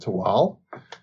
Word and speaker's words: Tehuatl: one of those islands it is called tewal it's spelled t-e-h-u-a-t-l but we're going to go with the nawal pronunciation and call it to all and it is a